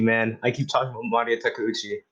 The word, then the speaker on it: Maria Takeuchi: I keep talking about Maria Takeuchi.